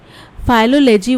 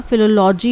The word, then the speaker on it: philology: फाइलोलॉजी word नहीं होता, फिलोलॉजी होता है।